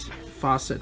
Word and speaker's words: faucet: work out but faucet even though it's spelled with a c it actually has an s sound for pronunciation so we don't say it would say far set faucet repair so that's what